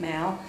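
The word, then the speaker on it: Mow: I am working with an invasive specialist from Morgan County, David Mao, M-O-W, but he pronounces it Mao.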